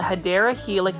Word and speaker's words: Hedera helix: This is a Hedera helix, or what you call a Hedera helix.